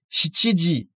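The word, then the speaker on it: 七: Ichiji, niji, sanji, yoji, goji, rokuji, shichiji. Attention, nana se dit dans certains cas shichi et non pas nana.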